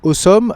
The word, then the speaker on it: Ausom: de la part de Awesome. Alors, ça s'écrit A U S o M, mais en fait, c'est un jeu de mot, ça veut dire awesome.